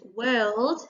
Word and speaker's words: world: at the beginning but the word world has got the er sound in the middle so it's a little bit tricky so we've got the